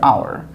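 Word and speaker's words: hour: তো একটু খেয়াল করেন তো, শুরুতে কিন্তু এইচ আছে, তো এখানে এইচের মতো কিন্তু উচ্চারণ হচ্ছে না, এখানে এইচটা সাইলেন্ট আছে, শুধু উচ্চারণ হচ্ছে ও ইউ আর আওয়ার।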